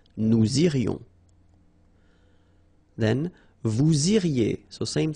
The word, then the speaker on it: irions: Nous irions, final S not pronounced. Nous irions.